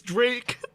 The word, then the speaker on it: Drac: "No, it's Drake. There's no E, it's Drac. Just pronounce it as Drake. It's a hard K, bitch.